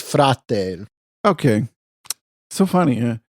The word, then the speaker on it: frate: I mean, they have a lot of Slavic words, but I never heard them say brate. It's frate.